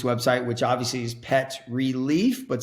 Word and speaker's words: Releaf: which obviously is pet relief but spell that like leaf on a tree so r e l e a f dot put it here